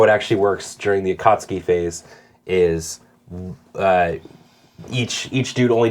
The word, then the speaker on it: Akatsuki: I don't want to be a pedant, but it's Akatsuki, Yeah. not Akatsuki. Whatever. One of them means red cloud, one of them means I like a cat.